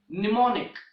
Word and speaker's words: mnemonic: is silent letter and in English there is only one word that starts with MN there is only one word in English that starts with this combination M n and that word is mnemonic that word is mnemonic